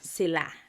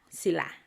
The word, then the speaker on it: sila: That's sila. Sila.